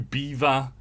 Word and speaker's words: Belvoir: even more but yeah belvoir to beaver i don't know how you get that and i stand by